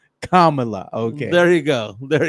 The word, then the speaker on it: Kamala: pronunciation right it's not Kamala she's not a wrestler from the 80s it's Kamala Kamala okay there you go